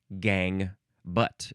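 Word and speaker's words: gangue: Next is gang butt. You know, it sounds just like gang, but this one is spelled g a n g u e.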